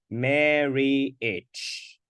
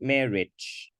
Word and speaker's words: marriage: and then this one therefore this word has three syllables meh Mary and itch come on marry each not marriage marriage marriage can you